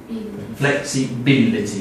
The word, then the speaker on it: flexibility: un flexible not okay flexibility fil flexibility the third syllable flexing